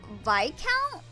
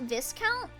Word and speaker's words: Viscount: Viscount is pronounced Vcount, not Viscount.